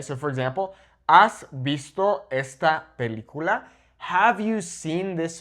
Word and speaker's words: esta: Also, I underlined esta because do not pronounce this as está, okay? It's two different things. Está meaning is, whereas esta is the feminine meaning this, okay?